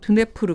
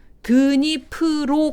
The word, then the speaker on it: 드니프로: 슬라브 문명의 근간이 줘 드네프르 강 드니프로 강 이렇게 표기를 하겠습니다 제가 혹시 깜빡하고 키예프